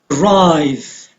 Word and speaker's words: arrive: Arrive, on the second syllable.